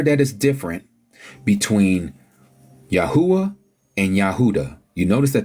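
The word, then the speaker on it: יהוה: Yod, He, Uah, He. That's what we get. YHUH. Yahuwah. Again, they pronounce it as Yehovah.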